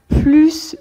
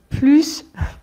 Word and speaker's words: plus: avec le contexte donc on va prononcer le S quand c'est positif spécifiquement avec ces deux cas plus de plus non par